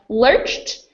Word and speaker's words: lurched: a t even though it's spelled with a d thanks Robinson Quinton will